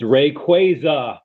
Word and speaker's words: Rayquaza: Um, they have officially given an official way to pronounce Rayquaza, and it's Rayquaza, mother flappers.